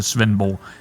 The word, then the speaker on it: Svendborg: That is, yeah, I'll pronounce it Svenborg, like you would in real.